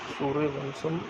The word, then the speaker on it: सूर्यवंशम: सूर्यवंशम pronounced bye सूर्यवंशम translate solar dynasty 1999 Indian Hindi